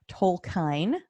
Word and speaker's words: Tolkien: always pretty yet yeah you just say it quick it's Tolkien Tolkien there's a small subtle pronunciation in there I'm sure because he was born in South Africa but if you're an American we just say Tolkien Tolkien all right make it